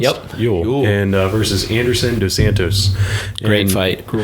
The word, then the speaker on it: Ewell: And so the next one we have here is Andre Ewell, I think it's pronounced. Yep. Ewell.